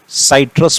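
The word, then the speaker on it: citrus: फिर से सुनना, क्या बोला, नींबू को हम क्या कहते हैं, सिट्रस फ्रूट, साइट्रस फ्रूट या सिट्रस, जैसे प्रोनाउंसिएशन करना है।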